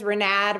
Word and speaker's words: Rinad: My name is Renad Rhymes with Glad Badis.